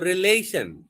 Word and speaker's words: relation: So relation, so stress is on the L, second syllable.